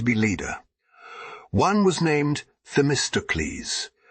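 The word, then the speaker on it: Themistocles: leader one was named the mysticles pronounced the Mr Cleese and the other aristides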